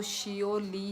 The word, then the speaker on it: Seouli: तो बोल लो पर हिंदी में जो भी लिख रहे हो वोह प्रोनाउंस गलत है ना मेरा नाम तो शियो ली है सुधीन देव वर्मा हाय